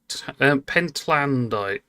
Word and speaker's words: pentlandite: It's a pen pentlandite. How we pronounce that?